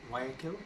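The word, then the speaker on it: Guayaquil: pronounce this wrong but it's actually it's like wire kill wire kill or something we realized we were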